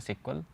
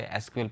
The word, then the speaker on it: SQL: इसे प्रोनाउंसिएशन किया जाता है सिक्वल. जनरली लोग इसे एसक्यूएल पढ़ते हैं.